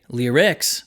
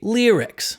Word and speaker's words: lyrics: these two words lyrics We Don't Say lyrics We Say lyrics take a listen to